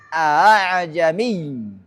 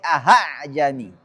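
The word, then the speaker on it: ءَاعْجَمِيٌّ: Mengucapkan huruf antara fathah dan alif. Dan bacanya terdapat pada surah Fussilat ayat 44. A'jami. A'jami. Enggak boleh a'jami, enggak boleh ahajami.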